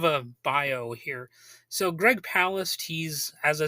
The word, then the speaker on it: Palast: And I've also heard it pronounced Palast, but I think it's pronounced Palast because in an interview that Jello Biafra did with him, he regularly pronounced it like that. And Greg didn't correct him or anything like that. So I'm just going to say like Palast.